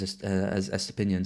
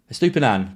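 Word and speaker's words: Estupiñán: a player, especially one as highly owned as Estepinian. So Estupinan, got to get his pronunciation right.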